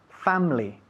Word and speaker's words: family: We say family. Okay. All right? The I disappears. Okay? We swallow it up. Family. My family. How's your family? My family. My family. Family. Family. Family. Eso es. Dos sílabas, ¿eh?